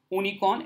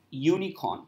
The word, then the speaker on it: unicorn: It's not unicorn, it's unicorn. So because of the consonant sound, it is a unicorn, a tree, a motorbike.